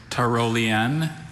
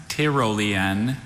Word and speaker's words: Tyrolean: There's Tyrolean, Tyrolean, and Tyrolean.